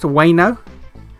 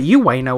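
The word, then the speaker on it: Ueno: that's how it's pronounced, Wano? I've been calling it you Wano all this time. I thought the U was pronounced. I always thought it was you Wano. Not Wano.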